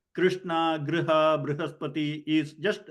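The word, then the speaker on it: बृहस्पति: But Brihaspati has to be pronounced Brihaspati, not Brihaspati, not Bruhaspati. When it is, sometimes it is spelled as U, then you say Bru, you can see the lips rounding.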